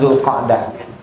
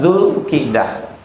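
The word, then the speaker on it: Zulqaidah: bahasa Arab namanya ya kalau zulqdah dipakai maka artinya orang itu duduk dengan cepat jadi habis berdiri segera atau bersegera untuk duduk maka dibacanya zulqdah tapi kalau dibacanya zulqidah itu artinya duduk tapi pelan pelan-pelan duduk santai atau duduk dengan santai-santai itu namanya zulqidah kalau duduk dengan tergesa-gesa namanya zulqadah maka yang biasanya dipakai namanya zulqidah sejarahnya dulu Jazirah Arab zaman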